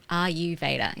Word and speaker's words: Ayurveda: I keep looking at the spelling of Ayurveda and I'm like, Ayurveda is how we pronounce Perfectly.